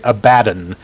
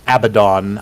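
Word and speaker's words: Abaddon: Horus died the legion was taken over by abadan um or sometimes pronounced abidon I'm not sure which is actually correct I've heard it both ways AB a DD o n uh the explanation I've been given has been abdon according to those which the word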